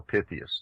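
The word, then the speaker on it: Pytheas: history the legend of Pi pious or Pythias depending on how you choose to pronounce it and he was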